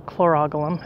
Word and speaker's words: Chlorogalum: So back to the soap plant, the chlorogalum, or chlorogalum, if that's how you want to pronounce it.